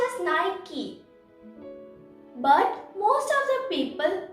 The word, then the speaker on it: Nike: you know what it is it's called just nike but most of the people call it as nike or nike and that is wrong the